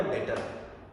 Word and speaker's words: debtor: उसको हमने कल समझा, जिसको हमने नाम दिया डेटर, DEBTOR, जिसमें बी आपका होता है साइलेंट, और जिसमें हमने समझा डेटर इज a person form और इंस्टीट्यूट.